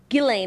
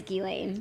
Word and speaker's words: Ghislaine: Gileain is what they said is what they said in the documentary, but I don't want to give her the respect of pronouncing her name correctly.